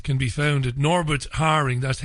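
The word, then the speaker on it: Häring: his excellent website can be found at Norbert Haring that h a e r i n g if I'm mispronouncing your surname Norbert don't hesitate to tell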